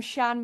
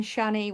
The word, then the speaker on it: Channe: up and I'm I'm Shan music but it's spelled weird so it's c h n NE E Shan Shanny whatever you want to call me music there we go